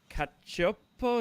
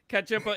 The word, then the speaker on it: Cacioppo: And so the first song there was by Kurt Cacioppo. Is that how you say it, Bruce? That's correct. Oh, okay. Cacioppo.